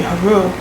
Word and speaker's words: Horus: everything is vibration that we should learn the actual way that our ancestors pronounce those like for instance Horus would be haru because it vibrates within us and everything you know